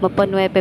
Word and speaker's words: Mapanuepe: doon sa lake mapanuepe mapanuepe pala siya ang tamang pagkabigkas niya ay mapan lumaki po ako sa